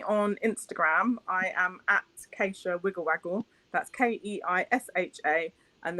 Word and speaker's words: Keisha: also on facebook which is wiggle waggle with acacia k-e-i-s-h-a it's spelt like keisha but it is pronounced acacia my parents west india i get it they